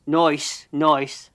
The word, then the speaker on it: Noyce: You have to say it like that, pal. Noyce. Okay.